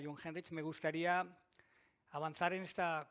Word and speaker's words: Jungheinrich: Entonces, si lo decimos rápido, John Henry, pues ya está. Ya sabemos pronunciar Jungheinrich. Bueno, como ahora ya nos conocemos y ya sabemos pronunciar Jungheinrich, me gustaría avanzar en esta conferencia.